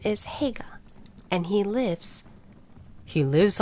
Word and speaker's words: Haigha: His name is Haigha. He pronounced it so as to rhyme with mayor.